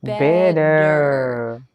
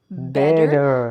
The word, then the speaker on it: better: Listen to that word. Better. Is there a D in this word? Better.